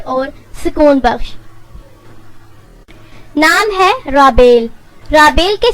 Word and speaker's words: رابیل: یعنی تسلی بخش اور سکون بخش۔ نام ہے رابیل۔ رابیل کے سپیلنگ ہے RABAIL اور اس کے معنی ہے